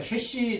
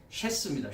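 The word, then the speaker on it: שֵׁשׁ: 제가 아까 쉐시 잘못 발음한 것 같은데 쉐스입니다. 쉐스. 네, 쉐스.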